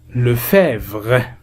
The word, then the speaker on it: Lefebvre: Lefebvre E on ne le prononce pas.